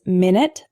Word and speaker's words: minute: of lead lead lead our next one is minute and minut a minute is a period of time 60 seconds for example can I call you back in 10 minutes the word minut is spelled the same way but it's an adjective meaning extremely small for example this isn't an exact replica there are some minut differences minute minut our next hetero name